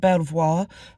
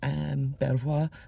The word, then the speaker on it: Belvoir: It's Belvoir Castle, not Belvoir, how it definitely is written down, but it's Belvoir Castle.